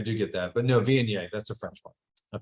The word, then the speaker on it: Viognier: The The Viognier?